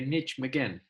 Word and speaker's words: Nijmegen: That's Nijmegen? Yeah. As the British say, Nijmegen.